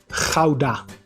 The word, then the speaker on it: Gouda: It is a common combination in other languages as well, for example in English as well, like the word out.